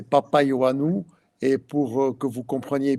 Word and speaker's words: Papaioannou: Ce c'est monsieur Papa Io Anou. Est-ce que je bien prononcer ? Je suis arrivé. Oui. Bonsoir d'abord. Bonsoir à tout le monde. Oui, effectivement c'est Papa Yanou et pour que vous